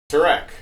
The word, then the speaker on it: Tareq: Well, I just learned that it's properly pronounced Tareq.